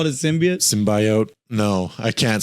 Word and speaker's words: symbiote: need everybody to realize we pronounced it symbiot because he did Dr Kurt Connor and Spider-Man called it a symbi sounds cooler too and now we learn it's symbiote that sounds like ryes